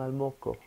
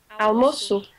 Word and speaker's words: almoço: Okay, that makes it you have to pronounce it as S, almoço. If it didn't have that, you would say almoco.